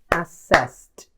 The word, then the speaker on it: assessed: E ele também é um verbo regular, e por isso no passado e no particípio a pronúncia é como um T. Então, assess. Assess. Assessed.